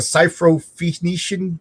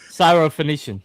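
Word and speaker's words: Syrophoenician: I can't pronounce this, but the ciphenician Canaanite woman's daughter when Jesus cast her out.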